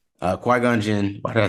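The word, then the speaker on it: Qui-Gon Jinn: trilogy including Ahsoka um Anakin Skywalker Count Dooku Kwai Junction uh qui-gonjin why did I say it like that Yoda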